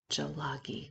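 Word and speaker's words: ᏣᎳᎩ: Here's the pronunciation, Jalagi, which means Cherokee.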